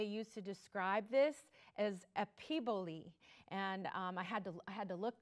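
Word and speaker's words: epiboly: And this word that they use to describe this is epiboli. And I had to look that up. That's not a word that you hear every day, but that is how it's pronounced, epiboli.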